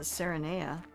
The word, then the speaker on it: Serenea: I could just add another syllable to that moon and call it Serenea. So it sounds more like serenade.